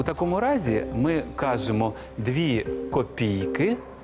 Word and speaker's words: копійки: тепер про копійки запам'ятайте копійки у множині мають наголос на останньому складі копійки а не копійки тому правильно сказати Не